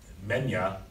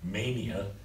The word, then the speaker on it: mania: Now, in menia is the way it's pronounced in Greek. Mania is what we say in English.